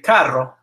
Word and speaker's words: carro: So if it's followed by what are known as the hard vowels, A, O, and U, it's pronounced like K in el carro.